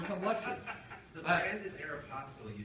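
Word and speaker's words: Aéropostale: And you say, oh my God, I don't want to pronounce it wrong, not Aristotle, Aeropostale.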